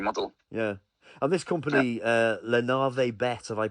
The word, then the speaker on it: Navet: Yeah, and this company, Navet, have I pronounced that right?